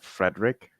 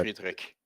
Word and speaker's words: Friedrich: Like, you pronounce it like Frederick? Mhm. So but- Friedrich. Friedrich. Yeah, Yeah. got it. Which part of that am I not getting right when I say Friedrich? Like the CH at the It's at a the harder end.